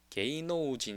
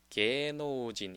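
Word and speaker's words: 芸能人: 한다는 뜻은 아니에요 그래서 발음이 게이노우진 이렇게 잇자를 다 발음하는 것보다는 요게 게노진 이런 식으로 이제 발음이 된다라고 이제 또 이해를 해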